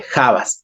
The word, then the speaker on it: habas: cual avas sin embargo en quichua se pronuncia la la H con la J se dice javas lo único que cambia es en la pronunciación se cambia la H por la J javas Esa es la única